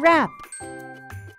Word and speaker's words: wrap: The last silent letter we will look at today is the silent W, like in answer and wrap.